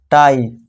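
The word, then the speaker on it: tie: अब third rule देखिए, जब लास्ट में आई ई आए तो आई ई का उच्चारण आई जैसे ही करना है। आई ई आ गया तो इसे क्या अपनाएंगे पाई, टी आई आ गया फिर से टाई, पाई टाई, ठीक है दोस्तों।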